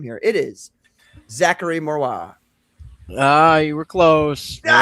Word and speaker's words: Marois: I love it when the pronunciation is like the easier version, because Patrick was trying to be fancy, make it sound like the original language. Like, no, it's just Marois.